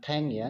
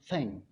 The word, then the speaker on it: thank: Bukan thank ya, tapi bacanya thank.